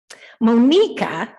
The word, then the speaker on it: Monika: of our congregation and worship team monika monika as her name is pronounced in her mother country came to the